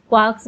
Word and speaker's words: quark: Three quarks for master mark. The word quark is supposed to be pronounced like quart, but with a K at the end instead of a T, but is usually pronounced to rhyme with rock.